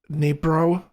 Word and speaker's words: Dnipro: The way you pronounce that is to like drop the D somehow. It's silent D.